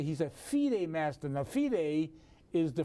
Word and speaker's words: FIDE: Most people refer to the World Chess Federation or International Chess Federation as FIDE, which is F-I-D-E. We pronounce it FIDE, which is the correct pronunciation.